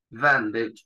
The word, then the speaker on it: bandage: Bandage en inglés es vendaje o venda, cualquiera de las dos, ¿sí? Vendaje o venda. Sí, la E del final no se pronuncia. Bandage.